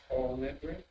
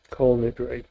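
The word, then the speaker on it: כל נדרי: Yes, all nitri. Kol Nidre, yes.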